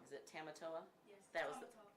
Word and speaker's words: Tamatoa: Is it Tamatoa? Yes. That was That's Tamatoa.